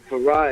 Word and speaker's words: Farrah: That's spelled. Farah is FARRAH.